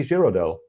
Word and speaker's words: Giraudel: And it's Kitty Giraudel, which is the French pronunciation, I guess I mangled it.